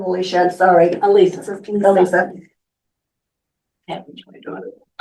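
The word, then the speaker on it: Alisa: Is it Alicia or No, it's Elisa? Elisa, just like my. Like your Elisa? A-L-I-S-A. On Struthers, which How do would you be spell it? paragraph 6. Elisa is A-L-I-S-A.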